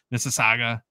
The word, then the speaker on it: Mississauga: We should mention too, of course, that the Expos in Mississauga, Toronto, which is just on the outskirts of the city. Did I say it right? Yeah, you said it perfectly.